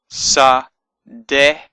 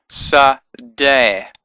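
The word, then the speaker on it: שָׂדֶה: We have a sound, so it's sa, sa, and we have a dalet, so it's a d sound with a e vowel, so it's sa, de, and the hey at the end just lengthens this e sound, so it becomes sa, de, sa, de, sa, de. So it turns that e into more of an a sound, sa, de.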